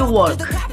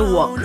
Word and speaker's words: walk: Be careful, we don't say walk, we say walk, okay? The L is not pronounced.